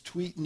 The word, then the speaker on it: Tweeten: And, you know, my last name's Tweeten. It rhymes with Eaton.